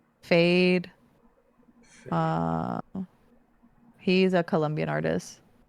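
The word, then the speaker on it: Feid: Oh, fade. F E I D. Yeah. Yeah. Yeah, I know. I know. Fade. Oh, that's how you say it. Fade. I always thought it was feed.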